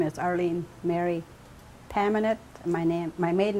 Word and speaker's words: Pamanet: Okay, my name is Arlene Mary Pamanet. My maiden name is. It's spelled P-A-M-A-N-E-T.